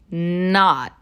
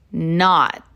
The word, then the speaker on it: not: Once again, we have two different T sounds here. Listen closely. Not. Not. This is the same sound at the end of don't. It's an incomplete T sound, otherwise known as a stop T.